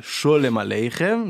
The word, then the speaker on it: Sholem Aleichem: Donc là, ce qu'on vient d'écouter, c'était Shalom Aleichem, et non pas Sholem Aleichem. Donc il y a la chanson et il y a l'écrivain, il ne faut pas confondre les deux. Ça ne se prononce pas pareil.